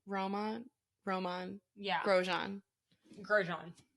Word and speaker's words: Romain: say his name Roma Roman yeah grosjean grosjean his name looks like romaine and I think about romaine lettuce because I think this is fine yeah but Roman but it makes me